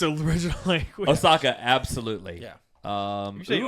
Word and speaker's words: Ahsoka: Yeah, that's how you pronounce it in in its original language. In its original language? Ahsoka, absolutely. Um so You said Osaka?